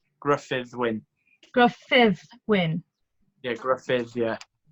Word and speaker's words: Gruffydd Wyn: I think I just butchered your name there, so show me the proper Welsh pronunciation. Is it Gruffydd? Yeah, so it's Gruffydd Wyn.